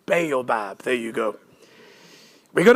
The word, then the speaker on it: Baobab: Did I pronounce that correctly? Baobab, there you go.